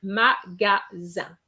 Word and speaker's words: magasin: as with the difference that we have an extra E. And that is going to make a big difference because you have magazine. Okay? But without the E, you have the sound un, magasin.